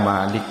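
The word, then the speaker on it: مالك: Nah jadi dalam Al-Fatihah ini bacanya agak para ulama membacanya dengan panjang, Malik, pemilik.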